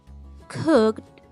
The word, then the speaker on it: cooked: Muy bien, cuando tengo un sonido sordo, utilizo la letra T para pronunciar ed.